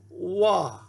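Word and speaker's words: ו: It's a wah, a wah, a wah. And that is our W, like in way, way.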